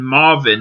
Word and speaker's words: MRVN: Now it's called Serving Marvin.